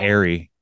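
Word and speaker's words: eyrie: wait the Airy iie I know but it's pronounced Airy that was like the the cafe at Northwest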